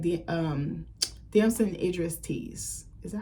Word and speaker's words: Damson Idris: He almost gives me like the Damson Idris tease.